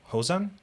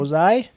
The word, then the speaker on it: Ozai: for Ozan. Ozan? Is that how you pronounce his name? Ozai, Yeah, Ozai.